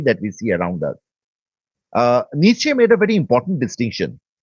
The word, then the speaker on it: Nietzsche: All right, Nietzsche, the various pronunciation, but let's confine ourselves to the anglicized pronunciation, Nietzsche.